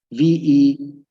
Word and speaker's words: Verdoorn: Kaldor Verdurn or Verdorn, because I think he was Dutch. I forgot what the country was, so I don't know what the correct pronunciation, but it's Verdoorn.